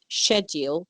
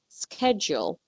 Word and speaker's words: schedule: mind I'm pronouncing it schedule which is the British Way of pronouncing it or more like the European Way whereas you would hear it on TV perhaps in some American show as scheduled schedule which is the